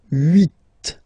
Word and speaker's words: huit: Then here, final T is pronounced. So huit, huit. Remember in French this H letter here, okay, doesn't exist phonetically, so we don't really pronounce it, okay? So if you listen carefully, you will only listen or hear these vowels at the beginning of the word. Huit, huit, okay?